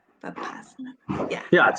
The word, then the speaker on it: Vipassana: I would say Vipassana, Vipassana yoga, and try to find a yoga studio or a yoga teacher that you like.